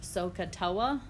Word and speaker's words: SOHCAHTOA: either earlier this week or last week commonly pronounced sohcahtoa the first letter of each chunk refers to